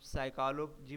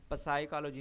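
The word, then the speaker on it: psychology: को कैसे पढ़ना है, हम साइकोलॉजी पढ़ें, पसाइकोलॉजी ना पढ़ें, ऑनेस्ट पढ़ें, हॉनेस्ट ना पढ़ें, तो ये करेक्ट प्रोनाउंसिएशन कैसे पता लगेगी?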